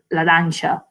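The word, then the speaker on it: laranxa: And then if you say it in Galego, you could say laranja. So use the X. Zumo de laranja.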